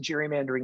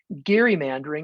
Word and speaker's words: gerrymandering: It's pronounced the hard G. So occasionally people who want to show that they really know what they're talking about will say gerrymandering instead of gerrymandering. And from a technical standpoint, they're right.